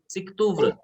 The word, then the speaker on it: SIKTUVR: उस, उसका नाम है सिक्तुव्र, SIKTUVR, सिक्तुव्र।